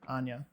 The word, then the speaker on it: Enya: The Danish pronunciation is saying Enya. Enya. Enya. Enya. Enya. But the American or like other pronunciation said Anya. So I think it just depends on where you are. I think it just depends on where you're from.